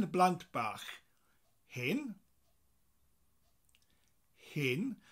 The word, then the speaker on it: hen: Hen blant bach. Hen. Hen. So it's spelt H-E-N, like the chicken.